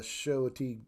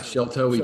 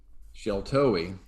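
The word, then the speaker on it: Sheltowee: The Shoatee, I always say it wrong. Sheltoe Trace, right?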